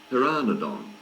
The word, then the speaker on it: Pteranodon: lines page 14 Pteranodon Pteranodon starts with a silent p it's pronounced there are nadaan the name means toothless